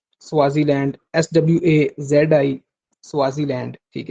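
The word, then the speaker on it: Swaziland: Eswatini की spelling आप note कर लें, ESWATINI, इस्वातिनी, ठीक है। 2018 से पहले इसको स्वाजीलैंड भी कहते थे, स्वाजीलैंड, SWAZI, स्वाजीलैंड, ठीक है।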